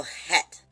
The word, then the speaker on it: het: is sh is hit it's c-h-e-t but the c is silent so het and in a form